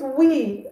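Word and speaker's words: oui: Okay, so it's we, okay, O-U-I, all right, just wrote that for you, okay?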